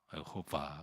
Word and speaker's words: 여호와: 그때 하나님께서 여호와 그랬습니다. 여호와. 근데 이 말은 이제 야훼라고 이제 부르기도 하죠. 원래 발음은 여호와입니다.